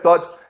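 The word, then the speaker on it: Dodd: É um T que é D, o nome dele é D-O-D-D, mas fala T. Essas pronúncias americanas. Tá, o Christopher Todd, ele chegou, falou com o Bolsonaro por mais ou menos 1 hora.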